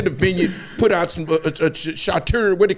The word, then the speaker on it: charcuterie: Put out some charcuterie. What do you call it? Charcuterie? No, it's a charcuterie. What? What? We grew up in the hood. We don't know. With the cheese shit. That charcuterie board.